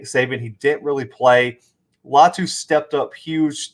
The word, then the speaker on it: Latu: And Cameron, I believe it's Latu. I've heard the announcer say it like 3-4 different ways. I'm going to go with Latu.